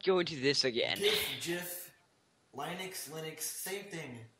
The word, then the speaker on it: GIF: And actually, the guy who created the GIF came out, and I'm not said it's saying that GIF. he said that it's pronounced GIF.